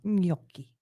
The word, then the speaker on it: gnocchi: How do you pronounce that? Gnocchi.